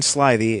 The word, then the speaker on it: slithy: Toves the i' in slithy is long as in arrived and Toves is pronounced